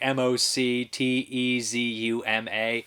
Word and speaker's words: Moctezuma: lot like Montezuma's Revenge I definitely mispronounce his name properly it's like MOC Tzu MA I'm not 100% sure